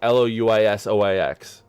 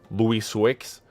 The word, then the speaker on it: Louisoix: in Ontario, I would not know how to pronounce Louis Sois. Because it's Louisoix. So, like, if I was American, I would have been like, Louis Swix.